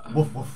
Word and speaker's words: wolf: little wrong pronunciation says you pronounce the L Kevin grunts in the